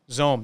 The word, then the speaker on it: Xome: Zome, yeah. So Zome is like one of the top 5 worst names ever. It's Xome. Nobody knows how to spell it.